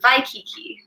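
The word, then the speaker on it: Waikīkī: it is hawaii because in the hawaiian alphabet w's are pronounced in the v sound and so vi for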